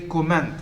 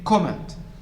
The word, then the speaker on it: comment: comment not comment i hear people say comment stressing the second syllable comment it should be comment not comment comment look at these